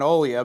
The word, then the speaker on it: Olya: no Olga, And so we went with the more Russian pronunciation, Olya, because we thought it fit better.